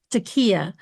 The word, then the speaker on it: taqiyya: It's taqiyya. It's spelled for the for the listener, it's t a q i y y a.